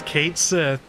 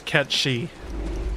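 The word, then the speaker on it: Cait Sith: different pronunciation uh in in Irish it's cat she oh okay mhm and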